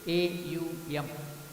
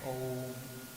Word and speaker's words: Om: So while pronouncing, some people also pronounce it as Aum, they will do it. It is not necessary to do like that, just you can chant Om, that's a different thing.